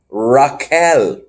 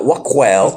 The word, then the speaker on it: Raquel: Q can make the K sound as well as the Qua. You didn't know that? Raquel. Not Waquel.